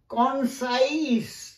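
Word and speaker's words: concise: জ উচ্চারণ হয় না, এই জ উচ্চারণ হয় না, সেখানে উচ্চারণ হয় দন্ত স, সাইস, যেমন উদাহরণ দিচ্ছি এক্সারসাইজ দন্ত স, কনসাইস, কনসাইস মানে সংক্ষিপ্ত, প্রিসাইস মানে যথাযথ, দেখো এক্সারসাইজ কনসাইস প্রিসাইস, লক্ষ্য করেছো, বেশ।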